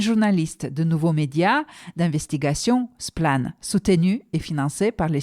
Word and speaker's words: Splann: je suis membre de splan ou splan en français qui est un média